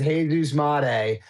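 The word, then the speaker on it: Jesús Made: His name is Jesus Mate. But it's spelled Jesus made and you pulled his cards before and I have pulled his cards before.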